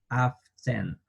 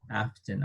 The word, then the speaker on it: often: Often. Often. Hay dos maneras de pronunciar este adverbio de frecuencia. La primera puede ser often y la segunda puede ser often. Often. Sin pronunciar la letra T.